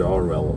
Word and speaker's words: Orwell: de George orell esse a pronúncia do cara né é George orell orell ess 1984 ele